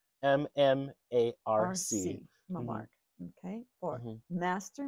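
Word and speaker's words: Mmarc: I call him Mamark. M-M-A-R-C. Mamark.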